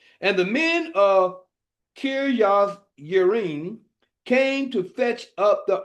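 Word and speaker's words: Kirjath Jearim: And it came to pass, while the Ark abode in Kirjath Yearim, the J is actually pronounced as a Y, that the time was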